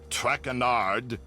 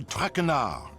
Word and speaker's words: Traquenard: As for my name, not Trecanaud. It is Trecanaud.